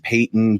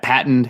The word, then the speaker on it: Peyton: It went well, but from what I have heard, Peyton, excuse me, I'm pronouncing it like the general. Yeah, that's how it's read. I know it's weird.